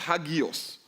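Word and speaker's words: ἅγιος: That word holy comes from a Greek word that is pronounced hagios. Don't you know we say hagios?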